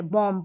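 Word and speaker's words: bomb: अब जैसे इसको बॉम्ब नहीं जैसे लास्ट में एम और बी है ना तो बी साइलेंट है। बॉम्ब पढ़ते हैं।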